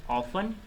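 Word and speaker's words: often: दूसरा वर्ड है ऑफन, इसमें T साइलेंट है।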